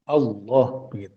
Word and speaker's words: Allah: Allah itu adalah ilah ditambahi alif lam jadi bacanya tafkhim Allah depannya dikasih alif lam